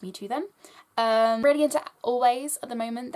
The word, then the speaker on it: Alvvays: Really into Always at the moment. It's spelled Alvays, I guess. It's Alvvays, because the two V's make up a W.